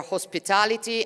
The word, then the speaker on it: hospitality: You see how her lips go ho ho ho? That doesn't exist. We don't have that. This is ah ah ah, right? Hospitality. Same thing. Five syllables. So, it's the secondary stress. It's not as important as tal hospitality. But you can't make it small like that.